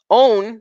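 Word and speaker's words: ὤν: that's her nickname still own this one you would say own right you would say own because this breathing this this this mark right here it's not pronounced it's not pronounced right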